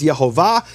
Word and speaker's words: Yehovah: But he received this as a tradition that the true pronunciation of the name is Yhovah.